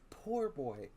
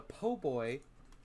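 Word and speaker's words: po' boy: a poor boy it is a PoBoy it is pronounced and spelled po boy I mean I know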